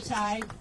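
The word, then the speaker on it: Tighe: Can you say your first and last name and spell it? My name is Ty.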